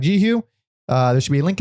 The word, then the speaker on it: Jehu: I've heard Yehu. I've heard because it's a Hebrew. It's a Hebrew word, and yes. all in ancient Hebrew, Y's were J sounds. Jehovah, spelled with a Y. Oh yeah. So I think people thought it was Yehu, but I think it's Jehu.